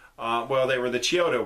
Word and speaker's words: Chiodo: well they were the Chiodo brothers I hope I'm pronouncing that right and maybe Kyoto but i think it's Chiodo brothers anyways they did a